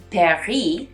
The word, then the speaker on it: Paris: brand isn't paris because the s at the end the word paris is not pronounced so on top of